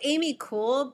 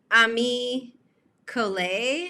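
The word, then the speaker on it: Ami Colé: of this brand um i said amy cool but then you know vikki j kind of said ami ko and i was like oh yeah she probably said it right and i didn't but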